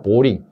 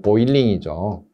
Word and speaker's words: 보일링: 33번 신설 보일러 설치 제작할 때 부착된 내부에 부착된 페인트, 유지, 기름기, 녹 등을 제거하기 위해서 소다 보링. 일본식 발음이죠. 사실 보일링이죠. 보일링이고요. 보링 하면 안 되고요.